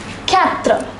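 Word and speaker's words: quatre: is pronounced as through a number four is pronounced as Catra so let us say this once more zero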